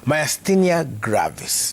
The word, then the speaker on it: Myasthenia Gravis: It's about Myasthenia Gravis.